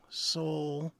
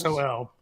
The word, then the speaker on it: Sol: Pete creates shining soul. I'm going to spell it soul candles. SOL.